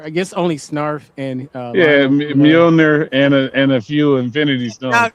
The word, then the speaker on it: Mjolnir: Jen, how do you pronounce Thor's hammer? Mjolnir. Say it. Mjolnir.